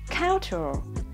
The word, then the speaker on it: cultural: Tính từ thứ hai, đáp án B, cultural, thuộc về văn hóa, trọng âm cũng rơi vào âm tiết thứ nhất.